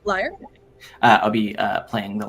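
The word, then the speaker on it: lyre: be uh playing uh the liar is that how you pronounce it yep liar I'll be uh playing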